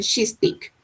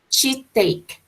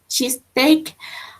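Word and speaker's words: cheesesteak: If you were from Philly and already knew how to order a cheese stick, that is a pronunciation, cheese stick. Cheese steak. Cheese steak.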